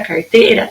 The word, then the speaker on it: carteira: Minha sílaba tônica na palavra carteira é o teira. Então, a carteira não faz parte de palavras oxítonas, porque a sílaba tônica dela é a penúltima e não a última.